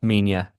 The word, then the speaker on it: Minya: I always mispronounce his name. Yeah, Minya.